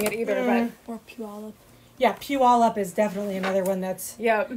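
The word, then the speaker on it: Puyallup: from here not that we're that great at pronouncing it either but yeah pew all up is definitely another one that's not set at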